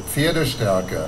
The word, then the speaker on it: Pferdestärke: So it's Pferdestärken. Pferdestärke.